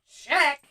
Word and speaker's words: Czech: on Earth, Czech, wha-what, it’s not pronounced like that, check, well that doesn’t make any sense, okay.